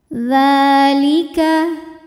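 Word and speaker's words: ذٰلِكَ: Dzalika, hukum tajwidnya adalah mad tabi'i muqaddar, sebab ada huruf dzal yang harokatnya fathah panjang. Maka cara bacanya adalah dzal ini kita panjangkan 2 harokat saja.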